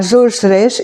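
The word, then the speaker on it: Georges Rech: Його звуть не Жож, а Жож Реш.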